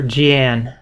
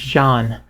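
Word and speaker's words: Jeanne: john here and this i always would call her gian i did not know how to pronounce the name but it's john a mysterious woman with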